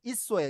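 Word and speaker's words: Esau: 에서를요 영어 발음은요 이소예요. 이소. 예, 이소. 맞아요. 예, 있어. 이소예요. 이소. 있어. 이소라고 발음합니다. 있어.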